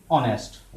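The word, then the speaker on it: honest: लेकिन अब यहाँ पर देखिए दोस्तों, ऑन आवर एंड ऑनेस्ट, ये दो शब्द यहाँ पर ऐसे हैं जिनको हम हावर नहीं पढ़ते। यहाँ पर दिया इंग्लिश का कॉन्सोनेंट है, लेकिन इनका प्रोनाउंसिएशन जो होता है वो वोवेल से स्टार्ट होता है हिंदी के। इसको हम पढ़ते हैं आवर और इसको हम पढ़ते हैं ऑनेस्ट, ठीक है।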